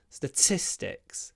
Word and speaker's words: statistics: come after S's and when we pronounce t after s it sounds more like a du statistics statistics um maybe